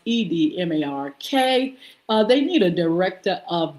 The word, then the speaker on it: Edmark: It's pronounced Edmark.